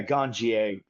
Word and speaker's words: Ganjier: Yeah, Ganjier. Very much like sommelier, so we pronounce it yeah, the French pronunciation.